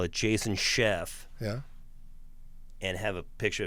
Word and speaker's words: Scheff: as a chef but it's spelled anyway you know Chef the way he spells it s c h e FF yeah uh well I